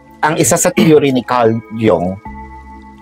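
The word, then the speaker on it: Carl Jung: Ang isa sa theory ni Carl Jong, well Carl Jong pero sabi nila ang tamang pronunciation niya is Carl Jong. Carlong Carlong 'no?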